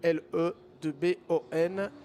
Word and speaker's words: Lebon: L-E-B-O-N. Vous m'excuserez si la prononciation anglaise n'est pas tout à fait la bonne, mais je pense qu'on doit effectivement dire Lebon en l'occurrence.